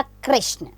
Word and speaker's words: कृष्ण: के देखते हैं तो इसका उच्चारण किस प्रकार होगा क्री र का साउंड आएगा इसमें शब्द बनेगा कृष्ण अब आती है ए